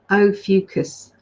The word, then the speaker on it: Ophiuchus: Ophiuchus. Thank you, darling. Just helped out there. There you go. That's how we pronounce it. Ophiuchus.